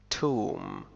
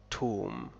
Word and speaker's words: tomb: tomb tomb، a building for dead bodies، قبر. tomb.